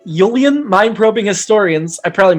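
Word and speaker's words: Ullian: They did pronounce it Yulian in the episode.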